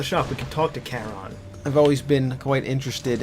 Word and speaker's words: Charon: Is that Charon? Charon or Karen? I like to think of it as Karen. I don't know how you pronounce that word. I think it's Charon.